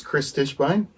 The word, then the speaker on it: Kris Tischbein: your full name because i hate when i mispronounce people's names my name is chris stishbein and uh i'm a bass player that's right